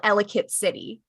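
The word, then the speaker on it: Ellicott City: the United States there is a place called elit City oh and it is pronounced elit so seeing it pronounced elot I'm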